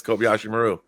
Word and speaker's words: Kobayashi Maru: That was the Kobayashi Maru, right? Yeah, that's right. That was the exercise. Did I say it right? Yeah, 19 years old, Altair 6. Yes, Kobayashi Maru.